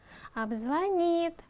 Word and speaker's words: обзвонит: Обзвонит. Глагол. И у нас на конце должно быть ударение.